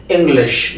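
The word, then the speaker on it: English: इंग्लिश, नॉट इंग्लिश, ऐसा कुछ, इंग्लिश। श का साउंड यहां पे आएगा, इंग्लिश। शकलक वाला जो श है वो आता है इंग्लिश।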